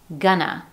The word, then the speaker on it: gonna: So instead of clearly hearing going to, you'll hear gonna, as in this sentence, I'm gonna go to the store.